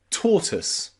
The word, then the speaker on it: tortoise: Then we have another way to pronounce O and I in words like tortoise, where it's pronounced with that schwa sound, tortoise.